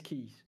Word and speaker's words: Keys: Like keys, it should be Kiss, but it is keys.